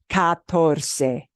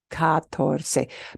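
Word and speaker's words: catorce: it's as long oh three syllables it kind of looks like cuatro but not really it's harder than saying cuatro four it's katorse katorse but notice those these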